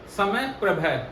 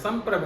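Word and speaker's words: सम्प्रभ: बोलते हुए ज्यादातर अमूमन 98% लोग जो है वो कहते हैं समय प्रभ बल्कि ये गलत उच्चारण है समप्रभ है इसलिए इसका ध्यान रखें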